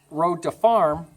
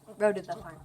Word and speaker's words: Road to the Farm: are going to ask Road to Farm 2 questions. He still said it wrong. What? Road to the farm.